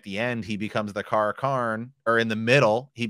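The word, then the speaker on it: Car'a'carn: And at the end, he becomes the Kara Karn, or in the middle, he becomes the Kara Karn, and then he marches on Tyr.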